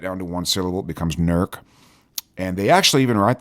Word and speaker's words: Newark: UPS packages nerc but if you're not from here you might say new arc or if you're from New Jersey you probably know Newark but if you live here in Newark Ohio you pronounce it nerc but you can come